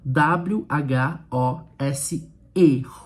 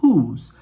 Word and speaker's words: whose: W H O S E. Whose. Olha aí, até coloquei aí.